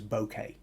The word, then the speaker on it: bokeh: with what's known as bokeh or that might be one way of pronouncing it b-o-k-e-h uh translation of the